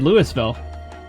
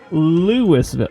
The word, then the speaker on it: Louisville: Oh, I thought I thought I said Lewisville. Louis Lewisville. Louisville. Oh, Louisville. There's a few There's a few areas. Oh, Louisville. Okay. I'm not used to I'm not used to these. This letter is silent.